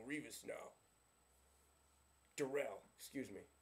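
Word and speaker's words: Darrelle: to the Super Bowl oh man they have darl Rivas now derell excuse me spelled like darl but it's pronounced derell you know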